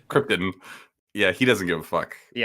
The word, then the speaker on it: Krypton: He's deliberately mispronouncing Krypton over and over. Yeah, it's Krypton.